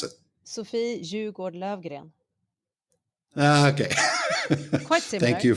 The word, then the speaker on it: Sofie Jugård Löfgren: How do you pronounce it? Sofie Jugård Löfgren.